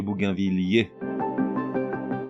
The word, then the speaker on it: bougainvillier: Toujours est-il qu'au niveau prononciation, dans les deux cas, l'un logique, l'autre beaucoup moins, le double L se prononce comme dans ville ou mille. On dit donc bougainvillé et bougainvillier.